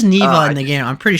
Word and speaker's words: Neva: I both played neeva I'm pronouncing it like neeva because that's the way I heard it when she pronounced it she says Nea in the game I'm